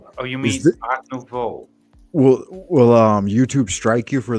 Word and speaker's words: Art Nouveau: No, Teach me the correct pronunciation. I don't want to seem like It's Art Nouveau. Art Nouveau.